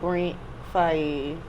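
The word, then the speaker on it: Brent Faiyaz: Speaking of TZ, like, so with Jackin' for Beats, you did a sample of Brent Fayez.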